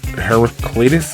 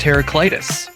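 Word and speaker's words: Heraclitus: Herac Heracles. Heracles. Heracles. You got it. It's pronounced teracitus. So just think of it like heracitis.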